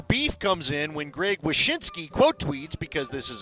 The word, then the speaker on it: Wyshynski: Greg Wisniewski. Oh, Wyshynski. ESPN. Yeah. Wyshynski.